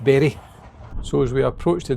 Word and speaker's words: Bury: So, we've got a few days at the Bur Caravan and Motor Home Club site. Um, I think it's actually pronounced Berry.